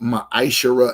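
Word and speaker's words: מעשר: It's pronounced maisher in the Hebrew.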